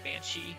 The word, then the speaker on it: banshee: It looks like the general consensus online is that it's pronounced like she, like maybe a little bit longer than she, like in Banshee versus she went to the store.